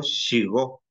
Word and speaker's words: shigo: SH, ahí donde la usamos cuando yo digo Shigo. Shigo, la S y la H suena cuando yo digo Shigo. Shigo. Shigo se escribe con SH y la O.